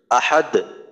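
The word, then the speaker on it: أحد: শেষেই কিন্তু কলকলা হয় যদি করেন আল্লাহু আহাদ দালের আওয়াজটা দুইবার হবে প্রথমে একবার হবে দ্বিতীয়বার আবার উচ্চারণটা ফিরে আসবে আহাদ কুলহু আল্লাহু আহাদ আহাদ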